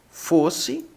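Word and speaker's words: φῶς: tornando acima do Ômega é um pouco mais fanho então é fofos fofos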